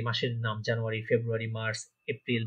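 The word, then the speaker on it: Februar: মাস name, যে ইংরেজি যে মাসের নাম, জানুয়ারি, ফেব্রুয়ারি, মার্চ, এপ্রিল, মে, ঠিক আছে?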